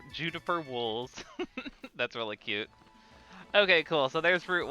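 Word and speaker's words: Owca: Okay, you pronounce it Ovza.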